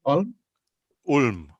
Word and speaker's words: Ulm: Ulm, con U.